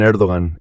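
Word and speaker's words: Erdoğan: El señor Erdogan, por supuesto, es un político muy hábil, se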